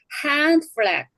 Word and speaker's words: hand flag: 이때는 hand flag. hand flag. 이때는 어떻게 발음 기호에 드가 안 들어간대요.